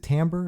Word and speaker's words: Tambor: And it stars Demi Moore and Jeffrey, is it Tambor?